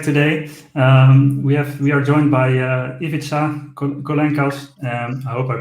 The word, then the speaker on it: Ivica Kolenkas: We are joined by Ivica Kolenkas. I hope I pronounced it correctly because he sent me how to pronounce it, so I hope I did it right.